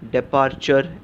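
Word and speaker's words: departure: और टी यू आरई उच्चार होगा डी पर्चर डिपार्चर कुछ कुछ लोग इसे डिपार्चर ऐसा भी कहेंगे लेकिन मैं सजेस्ट करूंगा आप इसको डिपार्चर ऐसे उच्चार करें डी ई पी ए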